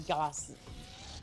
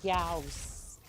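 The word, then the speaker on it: Gauss: Um, but on purpose because I normally say it like goss like NOSS or something and Chad has been telling me that that is actually the medical um that is like the medical tape instead of like Gaus which is more like the cannon that I'm wielding.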